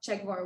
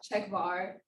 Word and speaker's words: Czechvar: But Czechvar, it makes sense once you know Czech Republic, Czechvar.